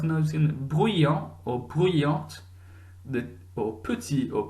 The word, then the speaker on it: petit: So that last letter, the penultimate letter of that word, when there's an E on the end, is pronounced when there's an E on the end. If there's no E on the end, it's silent. So listening again, petit, masculine,